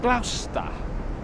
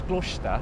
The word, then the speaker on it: Gloucester: You know, I recently learned that Gloucester is actually pronounced Gloucester. Did you know that, Gary? I was actually surprised. I thought it was Gloucester.